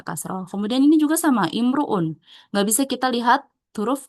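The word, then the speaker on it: امرؤ: Nah, kalau untuk kata imruun di sini enggak bisa dilihat huruf ketiganya ya. Tapi ee harus kita hafalin. Intinya kalau ada kata imruun berarti hamzah wasalnya dibaca kasrah ya.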